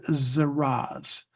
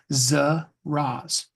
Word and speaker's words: Zaraz: The word is Zaraz, spelled Z-A-R-A-Z. Okay. Zaraz. Because if you just put it down on a piece of paper, Z-A-R-A-Z, you probably won't remember how it's pronounced. Zaraz.